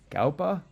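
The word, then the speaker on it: Gaupa: album Number Four Myriad by Nasser how I pronunciate it it's all capital g a u p a galpa but better way to think of it is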